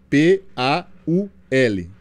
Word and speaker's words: Paul: quem não sabe né Paul em inglês se escreve p a u l ou é mas você que é brasileiro vai ler de outro jeito colocou p a u na mesa né mas em inglês é Paul mas para a gente